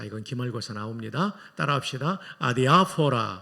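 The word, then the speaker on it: ἀδιάφορα: 아디아포라. 아디아포라. 여러분, 왜 이렇게 발음이 좋아요? 액센트까지 잘 맞추세요. 헬라는 엑센트 세 개가 있는데이 강한 액센트 아디아포라 한번 더 해 볼까요?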